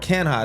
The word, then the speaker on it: Canha: Like you said, they trade Mark Canha. That's how you pronounce it, right? Mark Canha, yep.